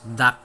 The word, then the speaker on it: Dachshund: Dachshund pronounced as Dax.